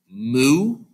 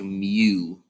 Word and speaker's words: mu: you hear it, is it's written like moo, but you kind of say it like Mew, like the Pokemon Mew, Mewtwo. But technically it's called Mew, but it's kind of MU anyways.